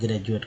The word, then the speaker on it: graduate: जैसे word meaning ले लेते हैं ग्रेजुएट का, GRADUATE में जो है डी को जा बोलते हैं, क्या बोलते हैं? जा। ग्रेजुएट बोलते हैं या ग्रेजुअली बोलते हैं। तो क्या डी को क्या बोला? द या जा बोला गया, तो जा यहाँ उच्चारण हो रहा है। अब देखिए ग्रेजुएट हो गया, जा उच्चारण हुआ ना।